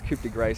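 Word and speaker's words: coup de grâce: And um while the cudigra of myself isn't I think it's kupa grace that's how it's actually meant to be pronounced anyway uh what while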